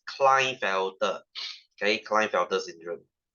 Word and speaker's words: Klinefelter: It's called Klinefelter. You know Klein? Klein as in GlaxoSmithKline, as in Calvin Klein.